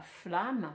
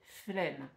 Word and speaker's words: flemme: On ne dit pas flamme mais flemme.